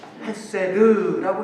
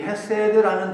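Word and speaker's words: חסד: 히브리어로 헤세드라고 이렇게 한번 적어보세요. 그냥 여러분 발음대로 헤세드.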